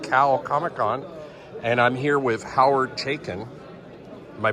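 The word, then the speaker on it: Howard Chaykin: We're here at CalComicCon, and I'm here with Hoyward Chaykin. Am I pronouncing your name correctly?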